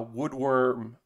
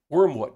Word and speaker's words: Wormwood: stream a while ago uh woodworm uh gaming uh wormwood not woodworm warm wormwood i said their name wrong wormwood gaming and how